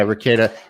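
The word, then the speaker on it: Rekieta: cool it's cool yeah rakeda it's spelled funky it's like r e k i e t right i think is that right so r-e-k-i-e-t-a i think i don't know it's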